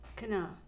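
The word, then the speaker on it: Canaã: Cana. Cana, yes. Okay, and how do you spell that for those who want to Cana do Google is- search?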